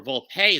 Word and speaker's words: Volpe: Anthony Volpe, or Volpe as it's actually pronounced, in short.